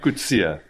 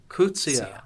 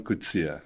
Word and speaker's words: Coetzee: I would say Coetzee. It's a common way of mispronunciation. Okay, how do you say it? Coetzee. Coetzee. Yeah, Coetzee.